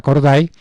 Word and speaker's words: Corday: por carlota córdoba y la estamos pronunciando es así como como se escribe carlota corday una provinciana que fue que